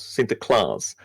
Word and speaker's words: Sinterklaas: Nicholas yeah with cinta Klaus or Sinterklaas see the claws I think it is not Klaus sinter Klass he of course has